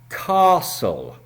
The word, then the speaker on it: castle: and the reason the word castle is difficult is it has a silent 't' in the middle. We do not pronounce the 't' .